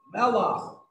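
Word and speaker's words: מלח: Melach.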